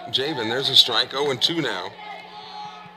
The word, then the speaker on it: Jayven: here at Greene County who have pronounced Jayven's name correctly every time. And poor Jayven, a lot of ballparks they'll call him Javon or other derivations, but they got it right. Jayven, there's a strike, 0-2